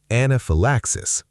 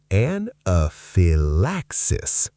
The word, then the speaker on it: anaphylaxis: Word 6, anaphylaxis. One of the most important words in emergency medicine and one of the most mispronounced. Anaphylaxis. The Y is soft. It sounds like phi, not phi. Anaphylaxis.